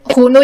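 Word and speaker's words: Rhône: होके आती है और जो ये होनो या आर साइलेंट रख लो होनो जो है ये यूरोप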